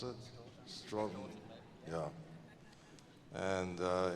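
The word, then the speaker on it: Stoughton: Is it how you pronounce it? Stroughton.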